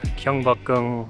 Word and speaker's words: Gyeongbokgung: Alright, we're coming up now to Gyeongbokgung, I think that's how you say it, Palace,